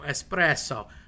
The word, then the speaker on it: espresso: consonant, adopia, a double you drag out a little bit, you know, espresso. Mama, it's not it's it's not you being uh pretentious or obnoxious. That's just how Italian is pronounced. So, there's a drag on the word on purpose if there's a double consonant. You never use an X.